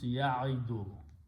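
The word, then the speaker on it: يعد: Okay, so what we do to make easy on the tongue, we pronounce only one sound letter instead of 2. Okay, and this is pronounced as kasra, so it becomes ya'idu. We don't pronounce wow.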